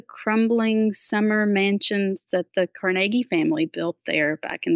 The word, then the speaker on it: Carnegie: the Carnegie libraries and they said oh it's Carnegie and I was like it is so I